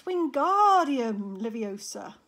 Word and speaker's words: Wingardium Leviosa: he heard Hermione snap its Wingardium Leviosa make the GAR nice and long you do it then